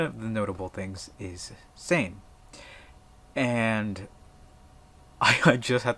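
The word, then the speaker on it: seim: I know it as same s e i m but it's pronounced the same as the word s a m e or s m Sam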